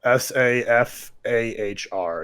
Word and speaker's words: Safar: Safar. Safahr is her last name.